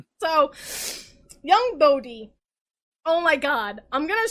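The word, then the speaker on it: Bode: nine-year-old bodies perspective now i never knew how to pronounce bodhi until the tv show so it proved i was right it's bodhi uh cause leia tried to be like no it's bowed and i'm like no it's bodhi you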